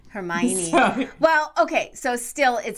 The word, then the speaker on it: Hermione: this in a previous episode that the name hermione is very close to the literary term heroine